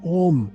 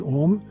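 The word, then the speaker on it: Ogham: written language it's called om spelt in gaelic o g-h-a-m but pronounced as om g h in gaelic is silent so om was a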